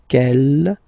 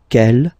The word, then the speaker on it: quel: Quel here, feminine singular, will become quel with the S, feminine plural. And the good news is that you will pronounce them the same way. All right, so quel, quel, quel, and quel. Okay, remember that in some